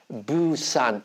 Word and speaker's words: 부산: 유성음이다 그래요 그죠 그러니까 사실은 부산 발음하면 정확히으로 썼을 때 우리가 어떻게 발음해야 되냐면 부산 이렇게 발음해야 되는 거예요 좀 어색하죠 그죠 어